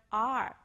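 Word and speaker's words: 二: it number two ar-ar-ar it is similar to the English word are how do you pronounce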